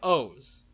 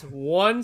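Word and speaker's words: oOoOO: it's spelt with 5 O's. Yeah. And it's one lowercase o, one uppercase O, then a lowercase o, and then 2 uppercase O's. But it's pronounced O.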